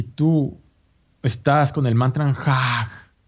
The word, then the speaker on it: Jah: El maestro da ese mantra de 3 letras, J-A-H. En los grupos de meditación, relájense todos y pronuncien el mantra Jah, así. Como una exhalación, como un aliento para sí mismo, profundamente ignoto.